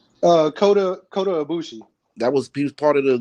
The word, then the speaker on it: Ibushi: And the leader right now is Ibasha, right? How you say his name? Kota Ibushi.